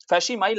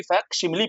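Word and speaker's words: facsimile: फैसिमाइल नहीं, फैक्सिमिली पढ़ते हैं उसको, ठीक है?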